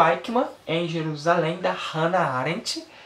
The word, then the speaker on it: Eichmann: No vídeo que eu fiz esse livro aqui, galera, eu falei o nome errado, eu falei Eichmann, mas não é Eichmann, é Eichmann. Depois que eu fui descobrir a pronúncia certa.